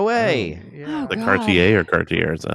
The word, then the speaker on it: Cartier: The Cartier or Cartier is that how it's pronounced?